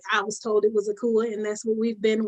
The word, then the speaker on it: Akua: diasporan African doesn't always know all the proper pronunciations of things when we reclaim our African names. So I'm aware that it's Akua, and most of the dialects on Ghana, in the country of Ghana, I should say.